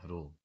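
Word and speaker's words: rho: रो रो पढ़ते हैं इसको, प्रोनाउंसिएशन करने के लिए रो पढ़ते हैं।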